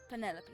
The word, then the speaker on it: Penelope: pill officially yes but I never can be bothered with all four syllables of it Penelope sounds a little ostentatious